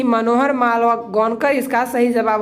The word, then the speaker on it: Malgonkar: कल मुझे प्रोनाउंसिएशन में थोड़ी प्रॉब्लम हो गया था, वहाँ पर मनोहर मालवांकर मैं पढ़ रहा था, लेकिन इसका जो प्रोनाउंसिएशन होता है मनोहर मालगोनकर।